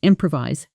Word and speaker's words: improvise: Musicians improvise solos, and speakers improvise answers. Slow. When the projector broke, she just improvised the whole presentation. Fast. Same sentence. Try it. Notice the stress falls on the second syllable, improvise.